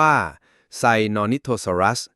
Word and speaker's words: Sinornithosaurus: รู้ จัก ใน ปัจจุบัน ชื่อ ของ มัน คือ ไซโนนิ นิทซอัส ออก เสียง ว่า ไซนอิโทซอรัส มี ความ หมาย ว่า